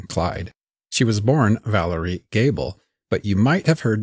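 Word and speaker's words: Goebel: name is spelled g-o-e-b-e-l which just reading i would pronounce gobel but apparently that's not how it's pronounced by most including the family themselves gable is the most common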